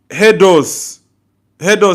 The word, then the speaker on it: Hedos: Hedos says, say my name like Hedos. Say the letter O. Say my name like that.